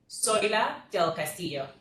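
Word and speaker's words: Zoila del Castillo: Soila del Castillo. You can spell that as Z as in zebra, O-I-L-A, del Castillo, D-E-L-C-A-S-T-I-L-L-O.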